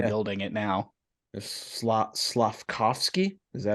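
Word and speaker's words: Slafkovský: yeah just start building it now this slot slavkovsky is that how you say it yep I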